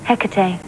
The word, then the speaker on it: Hecate: This little guy on top, how do you pronounce it? Hecate, demon of the night.